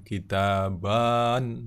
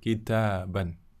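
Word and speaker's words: كِتَابًا: Alif itu tidak diucapkan, bukan seperti itu, bukan kita-baan. Tidak, bukan seperti itu. Huruf alif tidak diucapkan, kitaban, seperti itu.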